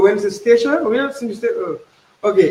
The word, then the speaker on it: St Eustatius: You're from a place called St Eustatius. Am I saying that right? Yes, you said it right.